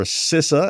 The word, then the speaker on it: CISA: In the United States, the Cyber Security and Infrastructure Agency, or SISA as I was told it is pronounced, uh announced that they would make thorium